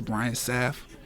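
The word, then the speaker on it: Brian Sapph: That's Brian Saf. Anybody having trouble pronouncing?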